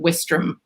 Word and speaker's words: Westerham: It's actually spelt Westerham, which is how I would have said it. But apparently the Brits pronounce it Westram. So losing a few letters in there.